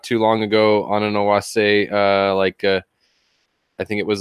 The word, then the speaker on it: Oase: People pronounce it however they want to, but I pronounce it Oase. Oase. Like the E is more like an A. Oase.